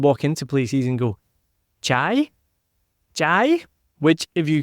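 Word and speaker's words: chay: y means vegetarian but if you say it in the wrong way it can also mean fire and when Adrian and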